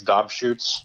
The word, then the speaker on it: Dobschutz: And then you said his name completely wrong, by the way. It's Dobschutz.